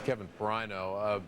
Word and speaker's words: Kevin Ferrigno: is pretty good Kevin I butchered your name when I introduced you it's Kevin Ferrigno hey when do you